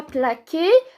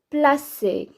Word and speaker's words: placer: Pour les autres personnes, alors on est obligé d'ajouter la cécidi pour que ça se prononce pas que. On ne dit pas plaquer, mais placer.